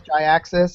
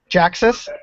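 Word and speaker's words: Jhiaxus: I found I think the name pronunciation is Jyaxis. I found Jyaxis. Jaxus. Jaxus. Yeah. It's supposed to mean G-Axus because it was created when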